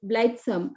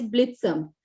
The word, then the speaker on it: blithesome: When I chose the word blithesome, I pronounced it as blithesome. But when I Google it, I found the correct pronunciation was blithesome.